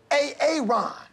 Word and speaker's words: Aaron: you say it the first time I said A-A-Ron? Because it's pronounced Aaron?